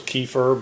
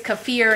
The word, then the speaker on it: kefir: which i actually used kefir i think is how you pronounce it i thought it was kefir but i think it's kefir is what the lady said at the farm and some egg whites